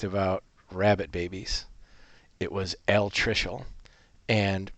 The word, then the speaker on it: altricial: Okay, let's practice these 2 words, and I will pronounce them for you again. Altricial or precocial.